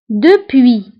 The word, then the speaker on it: depuis: ننطقوها نقول بيانتو bientôt depuis depuis كتعني منذ depuis depuis منذ فهنا ايضا depuis نكتبها بس في اخر الكلمه ولكن لا ننطقها depuis منذ déjà déjà